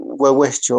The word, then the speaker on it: huehuecho: eh, Ciertamente no es una U de uva. Si ustedes ahorita en su casa pronuncien uva y fíjense cómo es la posición de la lengua y de los labios. Y ahora pronúncienlo con la W. Huehuecho. Cambia muy diferente, es muy diferente la posición de la boca, de la lengua, y